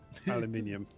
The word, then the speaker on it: aluminium: It took them 4 tries to figure out how to pronounce aluminum, and they still managed to get it wrong. Aluminium.